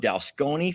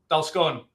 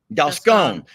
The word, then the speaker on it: Dalscone: Okay, so for those folks who are asking, Farmer Ben is the owner of Dalsconi Farm. Did I pronounce that correctly? Dalsconi? Dalscone. Dalscone.